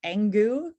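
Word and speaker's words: Engoo: favorite is this one called I think it's called angu but it's spelled e-n-g-o-o um and they have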